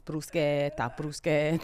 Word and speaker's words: bruschetta: That's not how you pronounce it. It's bruschetta. Yeah.